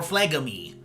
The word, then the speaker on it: phlegm: Dairy makes you more phlegmy, okay? That's right. And if you pronounce phlegm without the G in there, you're wrong.